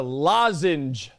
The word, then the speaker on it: lozenge: You're saying it wrong. You're saying we're going Logen. No. It's a Logen. It's a lozenge. Lozenge. When the hell did those extra vowels get in there? It is a lozenge.